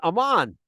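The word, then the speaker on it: Amman: capital of Jordan today is called Ammon after this man Aman perhaps want to say pronounce it that way it's a little more accurate Aman Aman the capital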